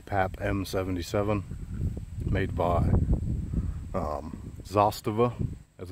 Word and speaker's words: Zastava: in the back porch freaking pollen but the zostava as it's pronounced you know we we pronounce it as a stava here but it's actually pronounced zostava that's the connect pronunciation but nonetheless this is